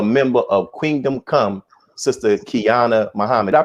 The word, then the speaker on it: Qiana: and also a member of kingdom come sister kiana muhammad i pronounce that right yes sir got it right